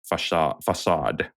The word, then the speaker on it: facade: So you need to kind of be a little bit mindful of your kind of facade, or how do you say it, Alex, That as was a native?